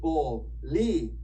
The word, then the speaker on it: bolígrafo: But for now, just know that when you see one of those accents, it's there to tell you I'm special and you got to say me a little bit stronger. Okay, so we're going to say that syllable a little stronger than the other ones. I like to tell my students to step on it a little bit.